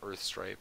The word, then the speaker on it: Urthstrype: You can also join the clan on Magic Online by messaging Spencer at Spencer13Dev or Quentin at Earthstripe, which is spelled URTHSTRYPE.